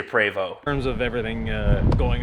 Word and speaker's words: Prevost: And that is the proper way to say Prevost.